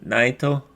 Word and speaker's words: Naito: the IWGP Intercontinental match is Kota Ibushi versus Naito. And I believe they fought each other at How did you say his name? Is it Naito?